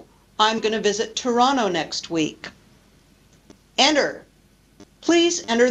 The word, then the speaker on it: Toronto: winter we say winter or the city in Canada Toronto usually the tea disappears oh oh I'm going to visit Toronto next week enter please